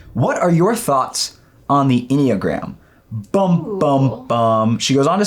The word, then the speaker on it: Enneagram: Yeah, I mean, Enneagram, first and foremost, rhymes with pentagram.